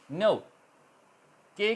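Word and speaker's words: knock: बोला जा रहा है इस तर नॉक एट the door नॉक नॉकिंग तो नॉक के अंदर के silent N ओ डब्लू सी के नॉक यह बोला जा रहा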